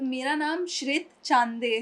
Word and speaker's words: श्रित: तो मेरा नाम श्रित चांदे है। श्रित। श्रित। हाँ, क्योंकि कोई श्रुति बुलाता है, कोई स्वीटी बुलाता है, तो ये कंफ्यूजन है, क्या है? श्रित। श्रित तो चांदे। श्रित जी, मैं अभी भाई